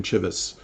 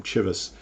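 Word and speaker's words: Cheves: The president resigns and was replaced by this guy, Langdon Chivvis. That's how you pronounce his name, Chivvis.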